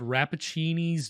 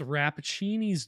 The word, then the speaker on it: Rappaccini: It's called Rappaccini's daughter. I think that's how you say it. Frappuccino's daughter would be more fun. But I think it's Rappaccini's daughter.